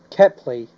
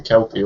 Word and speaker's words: Kepley: Honestly, to be honest, when I first heard the name Kepley, I mispronounced it in my head as Kelpie.